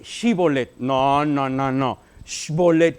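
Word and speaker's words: שיבולת: se imagina no no no se dice sh bolet se dice shibolet no no no no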